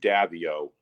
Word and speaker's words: Davieau: like deva devali but we pronounce it here and we've been pronouncing it davio for uh uh two generations anyways it's dabio since they came from canada they pronounced it davio and what what what